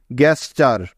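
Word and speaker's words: gesture: আর আমরা অলরেডি জানি যে এটা একটা ওয়ার্ড প্যাটার্ন যার উচ্চারণ সবসময় চার হয়। তাহলে জি ই এস মিলে হলো গ্যাস, এবং টি ইউ আর ই মিলে হলো চার, গ্যাস চার, গ্যাস চার।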